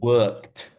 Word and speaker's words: worked: So with this one, it's difficult because it's got that hard consonant in the middle, but actually it doesn't have the ID sound at the end. It's worked.